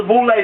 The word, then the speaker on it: Boule: to go to the boulay picnics known as full lay pronounced the group is here these b-o-u-l-e uh known as the boulay the group is here